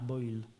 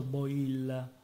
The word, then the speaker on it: Boil: nelle trattative aveva avuto un ruolo importante Bernard boil si pronuncia così Sì boil sì che era chiaramente un un minimo questo